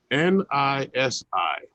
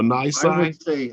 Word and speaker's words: Nisi: N-I-S-I. Inside? Or Nisai? I would say Nisi. Nisi or Nisai? Nisai sounds like you're drunk, and Nisi sounds like you're trying to speak another language.